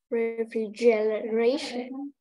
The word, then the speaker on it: refrigeration: Cái này sẽ là trọng âm thì nó sẽ là âm đây là âm trọng âm phụ đúng không? Thì con sẽ đọc vang là free đúng không? Thế còn cái này r thì lại ta sẽ thành dấu huyệt đúng không? Là bởi vì nó không nhấn trọng âm lại là r free j ray shun.